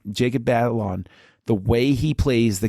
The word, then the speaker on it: Batalon: This character and the way that it's Jacob Batalon, I think that's how you pronounce the last name, Jacob Batalon, the way he plays the character is so